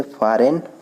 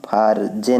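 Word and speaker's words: foreign: उसी तरह से फॉरेन, फॉरेन में जी क्या है, साइलेंट है। कहीं भी इसको हम फारजेन नहीं कहते हैं, ठीक है, फॉरेन कहते हैं, तो यहाँ पे जी साइलेंट है।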